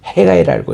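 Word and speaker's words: Haggai: 이거를 자기 이름을 따서에 우리가 이제 성경에서는 학계라고 우리 한국 말씀하는데 영어에서는 해가이라고 읽어요.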